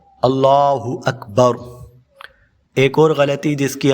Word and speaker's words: اللہ اکبر: تو نماز نہیں ہوگی۔ درست تلفظ کیا ہے؟ اللہ اکبر۔ ایک اور غلطی جس